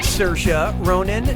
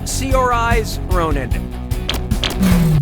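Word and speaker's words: Saoirse Ronan: How do you pronounce uh her name? Cersa Ronin, Sersa Ronin, Seors Ronin, or Sior Ronin?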